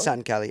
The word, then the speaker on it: Satin Cali: Satin Cali? Satin Cali.